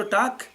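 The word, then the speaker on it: talk: اور واک اور ٹاک، اس کے درمیان میں جو ایل بیٹھا ہوا ہے، خامہ خامہ جگہ گیر رکھے اس نے، اگر اس کو نکال دیا جائے WA کے ہی لکھ دیں سیدھے، کیونکہ اس کو تو تلفظ میں تو آتا نہیں ہے، لیکن لکھنا پڑے گا.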